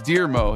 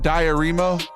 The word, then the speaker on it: Dearmo: It's Dearmo is how you say it. Okay. Hello, Dearmo. Not Diaremo.